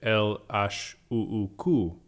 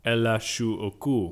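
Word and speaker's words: L.H.O.O.Q.: is the title because when you say it in french you get el ash which sounds like ella shu oku which translates to she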